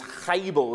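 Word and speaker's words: הבל: In fact, if you remember the Hebrew word for vanity is "Habel", isn't it? And it sounds like the word "Abel", the name Abel.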